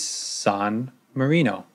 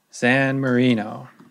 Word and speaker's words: San Marino: countries in the world is San Mourinho or San Marino I'm sorry I'm mispronouncing everything today San Marino so where is San